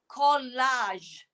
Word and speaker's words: collage: And there's only a few words in English that ends with the j sound. So we have the j sound at the end.